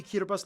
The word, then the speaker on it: Kiribati: language thing going on the alphabet only has 13 letters and no s's so they substitute the S with a t i for some reason hence Kira bus in kiribus it's kind of a